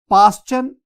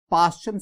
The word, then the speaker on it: Paschen: Student इसमें ना L silent है तो बाल्मर नहीं, बामर series. पास्चन, PASCHEN, पास्चन series.